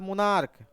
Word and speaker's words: monarch: 2 ही word ऐसे हैं, है ना, जिसका एंडिंग सी एच से होता है, बट उसको सी एच का जो प्रोनाउंसिएशन होता है च नहीं होता है बल्कि क होता है।